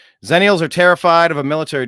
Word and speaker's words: Xennials: there we go yeah we were called xennials but it's X NN I a LS I've never seen it spelled with a z although that is probably the pronunciation zenial are terrified of a